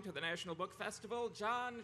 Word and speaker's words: Jon: It's just Jon. There's no H in it. The H is silent and invisible.